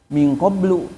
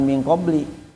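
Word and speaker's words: min qabli: Sebagaimana ya kalian bertanya kepada nabi kalian sebagaimana dulu kaum Nabi Musa bertanya kepada nabi mereka minqoblu ini juga ya. Jadi bacanya jangan minqobli tapi harus minqoblu a minqobli ee minqobli rasuli Muhammadin sallallahu alaihi wasallam sebelum datangnya rasul Nabi Muhammad.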